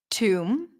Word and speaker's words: tomb: So when you have the MB spelling at the end, you do not pronounce the B.